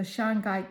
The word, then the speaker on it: shungite: The Shangite crystal is real. And that crystal name is spelled S H U N G I T E.